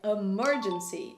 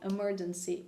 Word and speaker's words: emergency: E olha a pronúncia, eu não falei emergency, não é emergency, emergency.